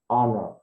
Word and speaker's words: honor: We don't need to pronounce the H. Hour. Hour. And the second example is honor.